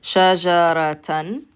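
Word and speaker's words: شجرةً: But because we have the fathatain on top, we pronounce it shajaratan.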